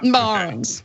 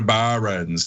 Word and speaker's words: Barron's: Yeah, first of all, you have to pronounce barons as barons. I do declare. Barons, okay.